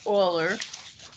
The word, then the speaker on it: Euler: um actually pronounced older it's spelled euler that is pronounced oiler so you pronounce it